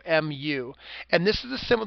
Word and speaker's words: mu: It's pronounced mu, mu.